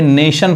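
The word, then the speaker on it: nation: तो देखिए यहां पे नेशन पढ़ेंगे, अब ये T नहीं पढ़ाएगा, इसका हिंदी क्या होता है, राष्ट्र, देश।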